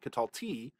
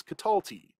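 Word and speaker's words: qatalti: with the one cs it's not catalti it's catalti with that accent in the middle and then that also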